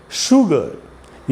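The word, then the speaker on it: sugar: दूसरा जो वर्ड है वो है शुगर। ये भी एस और यू से शुरू हो रहा है। तो इसमें एस को श पढ़ना है।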